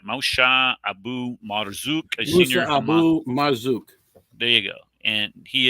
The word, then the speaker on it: Abu Marzouk: Moshe Abu Marzouk, a senior Abu Marzouk.